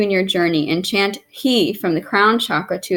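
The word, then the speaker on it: Hee: your journey, and chant He from the crown chakra to assist the release of joy. He, or H-E-E. He. It's spelled H-E-E, so he, yes.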